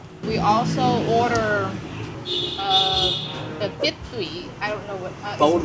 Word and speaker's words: Phở: and falling tone so you end up with f so that's the correct way to say it don't say faux don't say F don't say F or whatever it is it's f that's the Vietnamese lesson